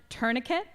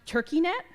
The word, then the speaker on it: tourniquet: How to pronounce tourniquet. I thought it's pronounced turkey net.